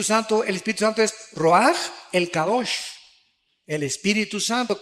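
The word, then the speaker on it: רוח: Aquí se usa otra palabra hebrea que es se escribe roach con R de Raúl A. Se pronuncia roaj. Por ejemplo, cuando hablamos del Espíritu Santo, el Espíritu Santo es roaj, el Kadosh, el Espíritu Santo.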